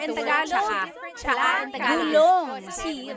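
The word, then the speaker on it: tsaa: that you drink, and it's spelled T-S-A-A. Ano ang license plate? Cha'a. That's such a Tagalog spelling. I love it. There's the T-S tire, and then the double vowel pronunciation.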